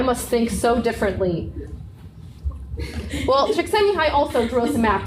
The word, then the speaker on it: Csikszentmihalyi: But this is actually also a real coined term, like in the dictionary, by Mikhail Csikszentmihalyi. That's actually how you pronounce his name.